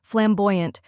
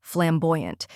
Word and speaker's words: flamboyant: of flame next is boy which rhymes with toy and is stressed then comes a which sounds like a in important now let's put it all together flamboyant try repeating after me flamboyant now a little faster